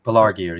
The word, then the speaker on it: Pelargir: Pelargir, yeah.